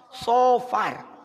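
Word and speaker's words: صفر: Sopar. Yang tepat penyebutannya menggunakan huruf sod. Sofar. Dalam bahasa Arab, Bu, salah huruf, salah pelafalan bisa fatal.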